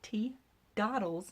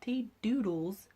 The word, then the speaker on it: Teadoddles: you should find me okay and it is pronounced teeth dawdles not tea doodles have a lot of trouble with that some